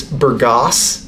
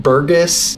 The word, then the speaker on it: Burgas: and by the way it's Burgos not Burgess or any other form of pronunciation that I hear on a lot of YouTube videos all right let's get